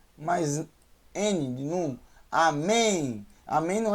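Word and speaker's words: אָמֵן: mais bem mas é mais um em um amém amém não é com ele no final é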